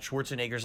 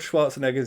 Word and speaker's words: Schwarzenegger: pronounce stuff like this so the n-e-g has a neg sound like like this word here but the second part